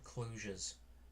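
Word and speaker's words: kludge: to problems and what we call clutches this clutch clutch is actually a a like a software term some people call them clujas but it's spelled clutch like fudge so that's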